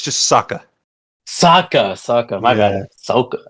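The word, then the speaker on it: Sokka: my bad isn't Oka no it's it's just Saka Saka Saka my bad Saka I mean I think I pronounced the O's more but yeah how you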